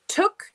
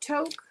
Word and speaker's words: Toke: Is that how you pronounce that? Not Toke. Took. But it's not spelled like that. Let me look at it again. So it's pronounced Took. Took. But it's spelled Toke. Took. Okay.